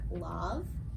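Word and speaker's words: Lauv: So, I think you pronounce his name like Love. Oh, yeah. L-A-U-V. Love.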